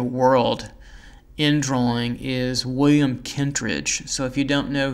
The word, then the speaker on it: Kentridge: in drawing, is William Kentridge. So if you don't know who he is, you might want to look him up. And it's spelled just like it sounds, William, and last name Kent, Kentridge, K-E-N-T-R-I-D-G-E.